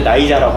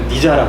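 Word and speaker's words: Nyjah: 해석하실 때 우리는 이제 나이자라고 하잖아요. 방송에서 니자라고 했단 말이야.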